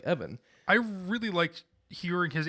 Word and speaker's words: Even: as Master Peel because Evan Peel is spelled E-V-E-N, and when you read that, that's just even, and it looks dumb, and so you can't just write that and expect people to read it like Evan.